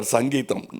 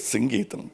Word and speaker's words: Singeetam: For once and all in Kodambakkam there was always a confusion how to pronounce his name. And Tamil he used to get very upset because they Mr. Sangeetam. No, it is Singeetam, please.